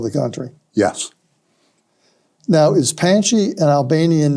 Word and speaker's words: Panchy: Probably, if it were spelled in Albania, it would be P-A-N-C Cedilla I, and it's probably pronounced a little bit more like Pansy rather than Panchy.